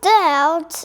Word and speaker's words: doubt: B 不发音，来 Well, there was no doubt.